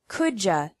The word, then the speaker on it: could you: like anything to drink could you sounds like Kuja could you close the